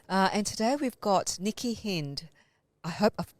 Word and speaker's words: Hind: today we've got nikki hind i hope i've pronounced your surname correctly nikki you've pronounced it incorrectly but you would not be the only one it's hind okay so thank you